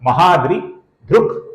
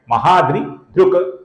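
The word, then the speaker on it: महाद्रिधृक्: अर्थात महाद्रि ध्रुक ऐसा उच्चारण गलत है, महाद्रि ध्रुक ध्रुक ऐसा उच्चारण हम करेंगे। ध्रुक ये क का पूर्ण उच्चारण है, ये उच्चारण हम नहीं करेंगे।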